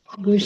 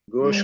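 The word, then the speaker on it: گوش: गूश के माने होते हैं कान के फारसी में, और इस गूश को हमारे यहाँ गोश कहा जाता है। पूरे सब कॉन्टिनेंट में इस लफ्ज का प्रोनाउंसिएशन है गोश।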